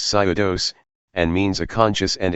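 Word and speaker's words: ψεῦδος: and the Greek word for lie is eudaje, pronounced pseudos, and means a conscious and intentional falsehood.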